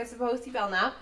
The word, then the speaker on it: Sopoci-Belknap: So my name is Sopoci-Belknap.